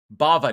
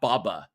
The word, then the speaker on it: Bava: pretty much cast I Bava Bava not Baba Bava anyway I'm saying it correctly um you're just giving